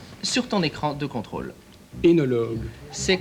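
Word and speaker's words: œnologue: Tu prononces correctement et distinctement surtout ce qui est sur ton écran de contrôle. Énologue.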